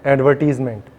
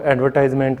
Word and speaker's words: advertisement: है, उसका नाम है एडवर्टीज़मेंट, या इसको एडवर्टाइजमेंट भी प्रोनाउंशिएट किया जाता है। तो कोई सा भी प्रोनाउंशिएशन हो, दोनों ही उच्चारण सही है, लेकिन हम लिखने का तरीका सीख रहे हैं कैसे लिखा जाता है।